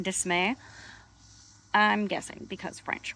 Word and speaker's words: De Smet: South Dakota, which, by the way, I always pronounced it De Smet, but apparently it's De Smet, which I think is a real butchering of